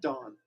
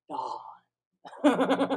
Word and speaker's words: Deshaun: Dawn. Dawn. Not Dawn. Dawn. The H is silent. Dawn. Dawn. Like HBO.